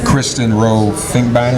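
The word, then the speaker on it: Kristen Rowe-Finkbeiner: Kristen Rowe Finkbeiner, am I You pronounced?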